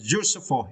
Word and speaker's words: useful: You need to stretch the first syllable, you. Okay, useful, it is adjective, right?